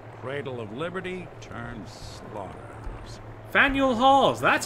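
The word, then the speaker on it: Faneuil: in here Daniel cradle of Liberty turns slums fanuel halls that's how you pronounce it thank you oh and there's feral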